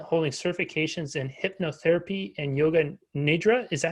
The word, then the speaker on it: yoga nidra: She's passionate about wellness, self-care, and spiritual development, holding certifications in hypnotherapy and yoga nidra. Is that how you say it, Kim? Yeah, yoga nidra.